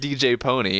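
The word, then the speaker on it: DJ Pon-3: because it's cool still sounding name it's still pronounced DJ pony and it's still sounds better when you pronounce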